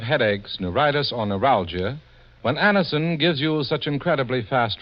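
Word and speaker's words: Anacin: Get a handy box of Anison tablets at your druggist tonight. For most effective relief, use only as directed. It's spelled A-N-A-C-I-N.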